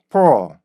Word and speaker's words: pull: 그래서 소리가 계속 변하는 거죠. 맨 처음에는 푸시였지만 이게 합쳐지면서 어떻게 돼요? 포 이렇게 발음이 들린단 말이에요. 그래서 여러분들이 간단히 보이는 단어예요. 그죠? 그런데 이걸 그냥 풀 이렇게 읽으셨다면 지금까지 잘못 읽은 거예요. 아주 잘못 읽으신 거예요.